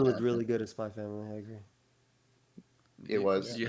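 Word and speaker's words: Spy × Family: Yeah, it's Spy Family. It's the X is silent. I Please. I will always say Spy X Why not? Family. You will not hear a silent X.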